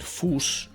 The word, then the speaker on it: fous: Luego vemos que se escribe Fous, que en francés se puede decir Fous, sabemos que la S no se pronuncia, pero bueno, se escribe Fous, y que si lo lees al revés, pues es Suf, ¿vale?